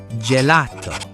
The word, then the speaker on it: gelato: Now, on the other hand, we have gelato. That is a soft J sound. Gelato.